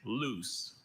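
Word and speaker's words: luce: The word is loose.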